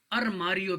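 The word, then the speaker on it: armário: हम अलमारी कहते हैं उर्दू में, पुर्तगीज़ में ये लोग अरमारियो कहते हैं, ठीक है। आर जो है वो हे की आवाज़ निकालता है।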